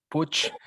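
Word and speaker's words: Puig: creo is saint paul my family name is pronounced pooch this means peak or hill or mountain in catalan which is my mother language and i'm also a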